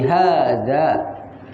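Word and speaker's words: هذا: yang jauh dari kita Hai cara membacanya walaupun dalam tulisan harga tidak ada alis setelah hak tapi itu di tetap di panjangkan jadi Haza begitupun dengan Zalika Hazard dengan Zalika dibaca panjang harga artinya ini Zalika artinya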